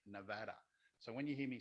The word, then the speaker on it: Nevada: first went to nevada i've learned to say nevada so when you hear me say nevada nevada nevada that's just so you know that's